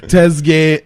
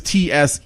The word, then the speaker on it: Tsegaye: Tesge Kebede. Well, at least it is Tsegaye.